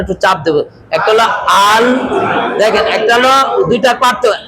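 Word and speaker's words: الحمد: সোরে আরেকবার আলহামদুলিল্লাহি এখানে একটু সতর্কতার সাথে বলবো আল হামদু গলার মাঝখানে একটু চাপ দেবো একটা হলো আল হামদু দেখেন একটা হলো দুইটা পার্থক্য একটা হলো আল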